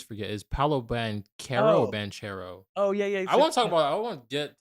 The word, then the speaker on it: Banchero: time I always forget is Palo band Caro banchero oh yeah yeah I won't talk about I